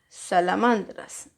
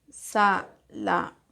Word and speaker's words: salamandras: Luego la primera de su ejercicio es salamandras. Salamandras. ¿Dónde está la mayor fuerza de voz? Salamandras. Sería acá. ¿Quiénes tienen la mayor fuerza de voz en la penúltima? Las graves. Entonces se escribe grave.